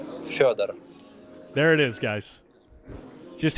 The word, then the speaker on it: Fedor: It's Fedor.